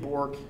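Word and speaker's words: Bourque: pronunciations like names like my name is Bork Bo you are qu e which is just French version of Burke B you are ke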